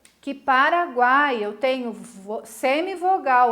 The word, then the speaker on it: Paraguai: Paraguai. Olha como o A é forte, o U quase não se escuta.